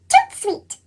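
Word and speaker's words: tout de suite: That's French for right away. You say it like this, toot sweet.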